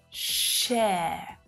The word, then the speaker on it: share: It's not ah, sha, it's not sha, but air, share. So it's that air as in hair vowel sound, sh, air. Share, share. In my Australian accent, you don't hear that sound at the end. It's just finishing on that vowel sound.